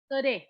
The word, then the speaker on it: Sore: Do you pronounce it sorry or sorry? Sore.